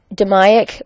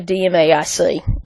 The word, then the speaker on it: DMAIC: need to make a change okay it's it's pronounced 'da miok but most folks call it the DMAIC alright the D stands for define this has